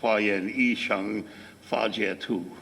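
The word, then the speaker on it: 华严一乘法界图: A Chinese person would pronounce those characters Huayan Yi Sheng Fa Jie Tu, right?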